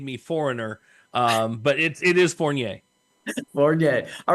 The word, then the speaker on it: Fournier: The last name is Fournier. It's Fournier. a French name, and growing up in Central Florida with that name made me foreigner. But it is Fournier.